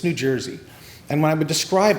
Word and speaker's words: New Jersey: coast people love to pronounce the state I'm from as new jisy we're actually not new jisy here it's New Jersey and when I would